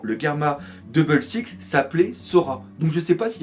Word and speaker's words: Sora: La mère qui, entre parenthèses, s'appelle Sora. Alors Sora ou Sola parce que le L au Japon, enfin le R au Japon se prononce aussi L.